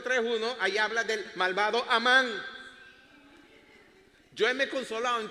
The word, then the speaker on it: Amán: ahí habla del malvado Amán. Yo me he consolado en todos estos años diciendo que en inglés se escribe con hice y se pronuncia Heyman. En inglés no es Heyman. Yo soy amán.